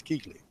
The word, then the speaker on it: Kuechly: he's got Luke Kuechly I believe that's how that's pronounced and I was why do I always pronounce Equis yeah I'm going with kukuli it sounds funnier I know it looks like Kuechly what it's Keith Lee he's a goddamn cheat